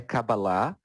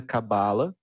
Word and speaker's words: Kabbalah: A pronúncia tanto faz, a pronúncia original é Kabbalah, mas no próprio Kabbalah Center a gente usa Kabbalah e não é errado é uma variação ok, tá?